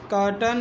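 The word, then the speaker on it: curtain: ये कर्टन, ये माउंटन। ठीक, ये सर्टन, ये विलन। इसमें ए आई आ रहा है, लेकिन ए आई का उच्चारण क्या है, छोटा आ के रूप में हो रहा है।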